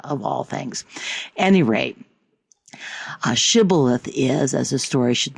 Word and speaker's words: Shibboleth: If he replied no, they said, "All right, say Shibboleth." If he said Sibboleth, because he could not pronounce the word correctly, the Gilead seized him and killed him.